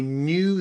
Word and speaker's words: knew: lessons so you can really improve your English pronunciation okay try these wonderful silent k tongue twisters number one I knew the Knight had a knife behind his knee